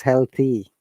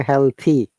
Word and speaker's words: healthy: healthy actually it is healthy rather than okay healthy your tongue must touch the inner tooth when you're pronouncing this word monica healthy very good